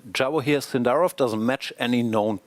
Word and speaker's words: Javokhir: That was a very valuable video for me because it also kind of taught us how to pronounce his name. How how is name it? Javokhir.